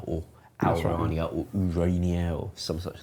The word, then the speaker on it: Ourania: I don't know how it's spelled, so. With an O. O what? Al. U. O-L-U? Ourania, I think. O-U-R. So I'm going to say how our.